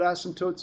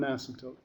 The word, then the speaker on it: asymptote: Okay, so let's talk about an asymptote. Okay, that's how you spell it. It's called an asymptote. Okay, it's not asymptote. Okay, doesn't have 2 S's in it, by the way.